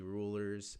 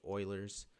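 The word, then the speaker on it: Euler: back over uh lines but that's what an Oiler circuit is when it comes down to it a lot of people when they first see it they announce it a rulers circuit it's pronounced Oilers um it's kind of a weird spelling um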